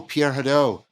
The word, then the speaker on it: Pierre Hadot: Could you say more about, if I'm getting the pronunciation right, Pierre Hadot? Is that right? Yes. Oh, Pierre Hadot.